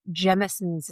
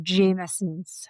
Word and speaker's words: Jameson's: I was drinking some Jimsons. Is that how you say it? Or Jameson's. I think I would have said Timsons. I have a tendency to say Jimsons, but I think it's Jameson's.